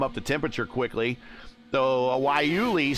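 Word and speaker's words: guayule: tires can come up to temperature quickly though wuli spelled Gua uh y u l e Gua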